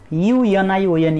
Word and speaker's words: union: U-N-I-O-N, union. Although union starts with vowel letter, but we use O there because union, it start with the pronunciation consonant sound there.